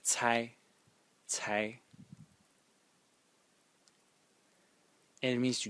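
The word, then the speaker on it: 猜: Well, this character is pronounced Cai, Cai, and it means to guess.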